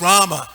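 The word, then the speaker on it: Ramā: long is Rama it's Rama sorry Lord ramachandra when the last a is long is Rama the goddess of Fortune so we should just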